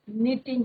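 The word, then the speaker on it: knitting: द ओल्ड मैन वाजिंग इन द सन यहां पे क्या आएगा my father my mother was निटिंग के साइलेंट रहेगा बच्चों ए एन I double T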